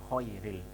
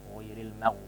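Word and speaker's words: غير: yaitu ujung tenggorokan dibaca Khoiril ini disebutkan di dalam Kitab bilawati surotil Fatihah itu disebutkan salah satu kesalahan pengucapan pada lafadz ayat terakhir ghoiril dibaca Khoiri nah ini ya jadi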